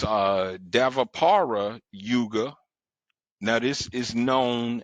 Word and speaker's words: Dvapara: And it's Davapara Yuga. Now this is known as the Bronze Age. Now that's spelled Dvapara, the Bronze Age.